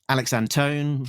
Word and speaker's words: Antone: And when we spoke to Alex Antone, rhymes with phone, he said that when